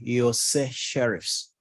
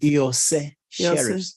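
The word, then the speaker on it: Iorse Sheriffs: Yose Sheriffs. My Lord, Yose Sheriffs is spelled I-O-R-S-E. Come again. I-O-R-S-E hyphen S-H-E-R-I-F-F-S. How did you pronounce it? Yose Sheriffs. The I is pronounced like a Y.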